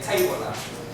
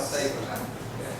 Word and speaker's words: stapler: So for low-level learners, especially for Vietnamese learners, it's very hard for them to say the consonant cluster. Even you, sometimes even somebody say excuse me, excuse me. Just last night when I asked my baby to pronounce the word stapler, classroom object, she always say tabler. So I have to say tabler. In order to make sure that you get enough consonant. So stapler.